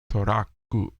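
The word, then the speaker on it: トラック: it's spelled so t-r-u-c-k here it's more like t-o-r-a k k u toraku but it's sort of like the Japanese way to say an English word so that's the weird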